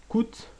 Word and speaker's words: cout: le réduire ou l'affiché coûte chevron shoah est le world entre guillemets chevron achevant endel point virgule les chevaux sont ces petites choses là alors coûte normalement ça se prononce si out mais j'ai dit écoute